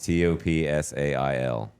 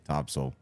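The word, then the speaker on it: Topsail: What about t o p s a i l. Top sail. Yeah. But what is it really? Topsole.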